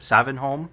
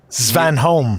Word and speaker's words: Svanholm: Savanholm, right? Svanholm. Svanholm, thank you.